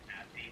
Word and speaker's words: Abdi: Hi, my name is Abdi Nazemian. The first syllable of my first name is ab, like the abs you work out when you do stomach crunches.